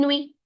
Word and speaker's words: nuit: Bonne nuit. Bonne nuit. Bonne nuit. Bonne nuit. It means good night. Bonne nuit. UI becomes oui. UI becomes oui. So it becomes bonne nuit. Nuit and T is silent.